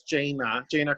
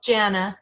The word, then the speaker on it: Jana: I'm called Jana, but it's Jana.